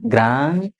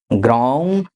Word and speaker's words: ग्रां: ग्राम ग्रीम नहीं बोलना है। क ख ग घ अङ वाला ग का उच्चारण करना है।